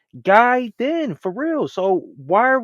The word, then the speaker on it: Gaiden: a guid no bro it's pronounced guid then for real so why